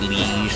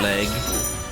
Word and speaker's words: liege: It's pronounced liege, not leg.